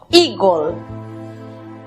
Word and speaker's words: eagle: La primera sílaba, recordemos que la combinación de las vocales EA se pronuncia I. La siguiente sílaba está compuesta por E muda, precedida de L y otra consonante. Matizamos con O, gol, eagle.